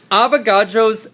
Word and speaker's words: Avogadro: So, Avogadro's number of particles is the number.